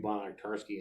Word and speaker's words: Banach-Tarski: It's not spelled like that. There, there's actually a video where these people are just going over and over again saying Bonner-Tarski, and an orange becomes 2, and then 2 oranges become 4.